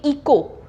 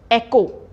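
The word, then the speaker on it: echo: है computer next word अब इको इसको हम जैसा लिखा है अगर आप वैसे ही बोलोगे इको तो यह गलत है इसकी करेक्ट प्रोनंसिएशन क्या है एकको इसकी करेक्ट प्रोनंसिएशन क्या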